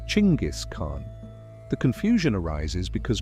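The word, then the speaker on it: Chinggis: Genis was the original anglicized version of Timujin's assumed name, but Chingis is actually closer to the Mongolian pronunciation.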